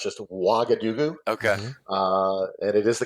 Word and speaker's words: Ouagadougou: I think this is a Ouagadougou.